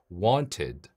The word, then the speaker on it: wanted: 동사 뒤에가 붙어서 과거형을 만들면이 ED 발음은네 그렇죠로 발음합니다 그래서 want 뒤에다가를 붙여서 wanted wanted wanted 예 이렇게 할 수 있고 melt